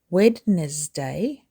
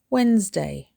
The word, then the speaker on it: Wednesday: Don't say Wednesday, say Wednesday. 2 syllables with a stress on the first syllable. Wednesday. Let's meet on Wednesday. This one drops syllables. Say it fast like a native speaker.